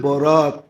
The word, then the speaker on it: বারাত: নাইলে লিখতে একরকমই লেখে লিখতে একরকমই আরবিতে এক উর্দুতে আরবিতে একরকমই লেখে কিন্তু উচ্চারণে ডিফারেন্স একটা হলো বরাত আরেকটা হলো বারাত একটা হলো মুক্তি একটা হলো চলন হুম মানে আকারের পার্থক্য